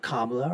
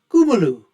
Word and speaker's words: Kamala: that Kuma haris and that is the way that her name should be pronounced I've T been told by Indian folks it's not kamla or Kamala it's kumu anyways whatever however you